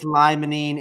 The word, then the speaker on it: limonene: You got 2 out of the 3, but it is limonene, and pinene would be the 4th most dominant.